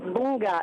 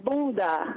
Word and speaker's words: bunda: Yeah, the word is actually not bunga, it's bunda.